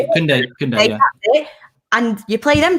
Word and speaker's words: Koundé: And you also get the young player, I don't know how you say his name, Koundé? Is that how you say it? Koundé, yeah.